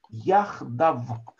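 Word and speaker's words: יחדו: Яхдав. Слово яхдав от слова вместе. Яхад. Яхад шивтей Исраэль. Так, яхдав вместе они. Ну, по идее, здесь должно быть еще юд, который не читается, который все равно не читается.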